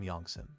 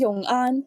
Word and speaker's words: Yong'an: Banyuanese for a general from Yongsan. Yongsan? Isn't it supposed to be Yong'an, as in forever peaceful? Where did the S come from?